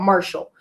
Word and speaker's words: MRSHLL: So we're gonna play a song called Circle, and it's by an artist called Marshall. Marshall's name is spelled MRSHLL, and I am looking